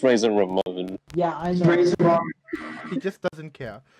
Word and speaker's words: Razor Ramon: was a wrestler okay razer ramen is definitely a it's pronounced razor ramon yeah he just doesn't